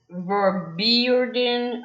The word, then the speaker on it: Vorbeireden: A classic symptom of Ganser syndrome is Vorbeirden. I will spell it out in case I said it wrong. Vorbeireden.